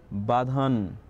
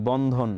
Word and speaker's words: বন্ধন: মানুষ যে নিজের আলাদা একটা সিভিলাইজেশন গঠন করতে পেরেছে এই সুপারপাওয়ারটার মাধ্যমেই কিন্তু পেরেছে স্যার আমার নাম ভুল উচ্চারণ করছেন please বাধান O sorry বন্ধন বন্ধন really sorry